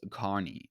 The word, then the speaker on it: Kearney: Buckle began as a men's clothing store in 1948 in Kearney, Nebraska, pronounced Kearney, and now has stores across in 42 states.